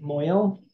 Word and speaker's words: mohel: It's usually written, transliterated as Mohel, like mohel, but usually people pronounce it moil.